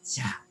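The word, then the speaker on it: じゃ: 이렇게 자, 옛날에는 대화라고 했는데 요즘은 자로 바뀌었습니다. 그리고 요 야는 야유요 요음입니다. 그래서 지야라고 읽지 마시고 작은 야이기 때문에 붙여서 자 이렇게 발음하셔야 됩니다.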